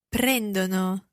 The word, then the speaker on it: prendono: Now, it's very difficult to hear, but parlano has an a sound, an a sound in there, parlano, but they take Prendono. has an o sound, Sì.